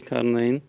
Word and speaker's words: Carine: are you thank you it's not too far off uh it's pronounced as carine but that's pretty close so D carine okay